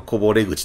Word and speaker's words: 河堀口: もんですねねっ河堀口とは読まんでしょ今日も翻訳なっ大きいでダンディけれどもあの河堀口と読みますはいで次が